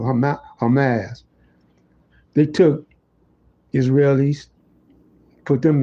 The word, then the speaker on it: Hamas: Excuse me for mispronouncing. I always have I always have to think of Hamus, you know, before I think of Hamas.